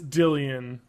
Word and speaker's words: Dillian: It is Dillian. I thought that was just the word Dylan.